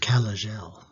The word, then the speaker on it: Kalajel: prepping style is here are their answers it's pronounced calagel so when you're cr you've started a few